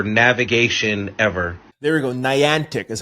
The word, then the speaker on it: Niantic: Geo models for navigation ever there we go Niantic is how you pronounce it yo I want some of that